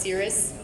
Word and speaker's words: Siri: Lightning Star, Attic, Netty Fresh, Nebulous, Nightling, Oddball Prime, Princess Luna, Siri. Pronounced Cirrus. We call him Siri.